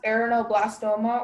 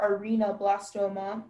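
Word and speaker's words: arrhenoblastoma: The word is pronounced aranoblastoma or arenoblastoma.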